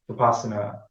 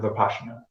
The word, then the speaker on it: Vipassana: He calls it Vipassana. So that's like I guess it's the Indian or Burmese permutation of pronunciation of it. Yeah. Vipassana.